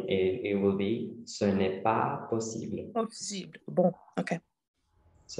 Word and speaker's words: pas: Also make sure to not pronounce the S at the end of pas in this case. So it will be ce n'est pas possible.